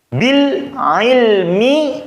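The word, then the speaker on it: بِالْعِلْم: Bil ilmi dibaca bil ilm. Berarti kan bukan bil ilm. Kalau bil ilm kurang tepat.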